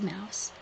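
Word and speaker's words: Maus: This is Mouse, you guys. And it's spelled M-A-U-S, Mouse.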